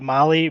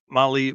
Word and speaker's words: Mahle: And for all our podcast listeners, Mali is spelled Mahle. That's right. Well, we want to feature Molly Motorsports co-pilot segment this